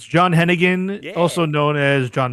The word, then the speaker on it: Hennigan: Hennigan? It's John Hennigan, Yeah.